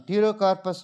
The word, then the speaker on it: Pterocarpus: And the next one, Pterocarpus marsupium. Pterocarpus, PTE. While you are writing Pterocarpus, you see the spelling. PTEROCARPUS. Pterocarpus. P is silent here, like Pteridophyta, so on.